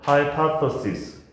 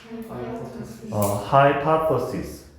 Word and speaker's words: hypothesis: 자, 발음이 어려워. hypothesis. hypothesis. th가 뜰 발음이니까 발음이 어렵죠.